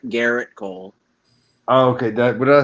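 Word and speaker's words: Gerrit Cole: It's Garrett Cole, not Jarrett. Garrett Cole. Oh, okay. What did I say? It's a subtle pronunciation key.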